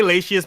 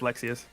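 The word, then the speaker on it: Lexaeus: I say Latius, but I'm pretty sure it's Lexius.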